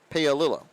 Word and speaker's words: Paolillo: Paolillo. There we go. 3rd time's a charm and getting that pronunciation right.